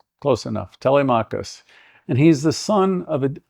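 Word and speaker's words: Telemachus: In the beginning of the Odyssey, there's a young man, if I can say his name, Telmachus. Close enough. Telmakus.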